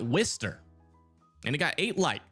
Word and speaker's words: Worcester: It's pronounced wister and it got eight light.